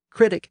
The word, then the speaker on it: critic: the newer version artist the same thing is true for critic and critique again these words come from the same French word which was borrowed twice critic came in about 400 years ago and again the stress has shifted to the first syllable critique came in over a century later and it retains its original stress on the final syllable the same thing happened